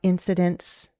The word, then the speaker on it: incidents: Or have you ever heard about incidents that occurred while someone was ziplining, if you want to use occurred? Okay. Have you ever heard about any incidents? Incidents, 3 syllables, stress on the first.